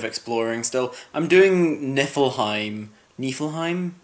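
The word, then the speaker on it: Niflheim: still I'm doing nifflheim nifflheim is how they pronounce in game and it's an interesting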